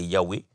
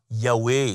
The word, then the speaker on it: Yahweh: Donc, c'est pourquoi Yahweh, c'est la plus proche de façon de prononcer cela. Mais il semblerait que la prononciation exacte n'est pas connue.